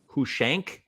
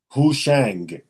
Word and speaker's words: Hushang: Hushank? Hushang with a G.